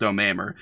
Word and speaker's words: Omamer: Anyway, like my name's pronounced Omamur.